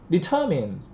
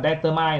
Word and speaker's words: determine: Determine là mang nội dung. Đừng phát âm sai là determine là sai nhé. Determine.